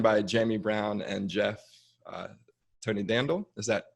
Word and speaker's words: Tonidandel: I'm joined by Jamie Brown and Jeff Tonidandel. Is that pronounced correctly?